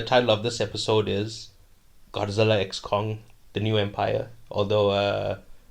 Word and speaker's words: Godzilla x Kong: of this episode is Godzilla X Kong the new Empire although uh the director Adam Wingard said the x is silent but why would you